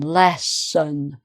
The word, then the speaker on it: lesson: And then lesson. Strong syllable, less, lesson, right?